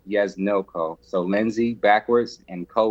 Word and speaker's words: Yesdnil Co.: backwards which was my father's name and it's pronounced yes no ko so lindsay backwards and co was a breezy